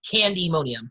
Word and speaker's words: Candymonium: switch between pronunciations but the correct pronunciation is candy mo diem the way the sign is written candy and ammonium are